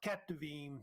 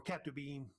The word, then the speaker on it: Ketuvim: And then you got Ketuvim, or Ketubim, pronounced either way, of course, the writings also as well.